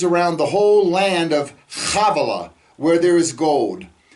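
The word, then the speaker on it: Havilah: the whole land of havela where there is gold that word chavala begins with a head it's not ha with a hey havela okay we oftentimes mispronounce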